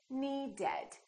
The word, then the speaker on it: needed: here's the first rule if the last letter of the verb is either a t or a d we add the extra syllable once again the last letter of the word is what matters for example need the word need ends with the a d so we say needed we add an extra syllable let's practice another word